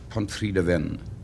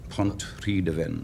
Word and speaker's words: Pontrhydyfen: Pontrhydyfen. Pontrhydyfen. Pontrhydyfen.